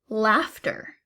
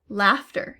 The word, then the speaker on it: laughter: Laughter. Laughter. Here's a word where the GH makes a F sound.